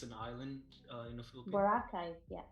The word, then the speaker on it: Boracay: I'm gonna miserably pronounce this, but Boracay, Oh, Boracay is an island in the Philippines. Boracay. Yeah, Boracay.